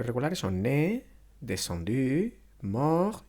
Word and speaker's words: descendu: El verbo 10, descendre, cuyo participio va a ser descendu, se pronuncia descendu.